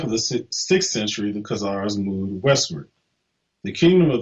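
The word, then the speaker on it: Khazars: to the best authorities but the two are pronounced so either kazars with a k or kazars with a c okay so um here's the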